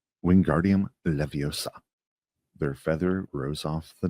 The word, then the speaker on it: Wingardium Leviosa: Wingardium Leviosa, he shouted, waving his long arms like a windmill. You're saying it wrong, Harry heard Hermione snap. It's Wingardium Leviosa. The gar, nice and long.